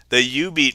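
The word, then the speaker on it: jubeat: So this is the U-Beat machine. It's spelled J-U-B-E-A-T, but that is now the machine that is in my office.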